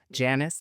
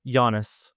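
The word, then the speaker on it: Janus: and his work on the award-winning audio drama Janice Descending. Am I pronouncing that right? Giannis.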